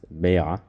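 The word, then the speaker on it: ביעא: an egg because in the Aramaic language it's pronounced Bea and the reason why that's important it's to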